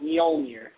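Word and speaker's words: Mjölnir: The J is pronounced Mjolnir.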